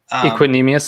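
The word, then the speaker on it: Equanimeous: other guy was uh oh how do you pronounce his first name equinemeous saint brown there we go thank you yeah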